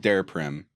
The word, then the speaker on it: Daraprim: came out were you raised the price of daraprim am I am i pronouncing that right yeah you raised the price